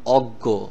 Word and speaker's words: অজ্ঞ: গ দুইটা গ এরকম দুইটা গ অক্ষরের মত উচ্চারণ হবে যেমন অজ্ঞ প্রজ্ঞা তো আমরা সামনে